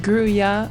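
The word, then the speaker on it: Grulla: Grula coloring is pronounced Gruya, but I always grew up with people calling it a Grula, and so I've just stuck with that.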